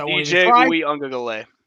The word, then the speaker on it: Uiagalelei: Like DJ, I cannot pronounce his last name, so I won't even DJ try. Uiagalelei. Ungale. What? No, Uiagalelei.